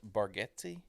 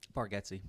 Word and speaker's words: Bargatze: That is Also, did you know his name is pronounced Bargetzi? Bargetzi, yeah.